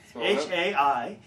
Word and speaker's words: Haikasoru: Haikasoru. Once again? Haikasoru. Thank you. Which is sort of how a Japanese person might say High Castle, from The Man in the High Castle by Philip K.